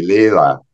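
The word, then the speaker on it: Leila: L-E-I-L-A, Leela.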